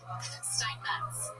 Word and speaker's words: Steinmetz: Steinmetz. With a T. You have to pronounce her T.